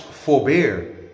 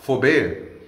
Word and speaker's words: Furbert: Ferber is actually pronounced forbear that the t is silent and he said how it had its Origins amongst the French and it was pronounced forbear even though it is